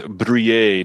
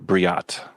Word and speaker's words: Brouillet: Aaron want us to know that it is Brouillet, not Briat.